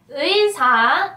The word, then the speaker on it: 의사: 의사 is doctor. For many people, 의 is quite difficult to pronounce. Think of pronouncing 으 and 이 at the same time.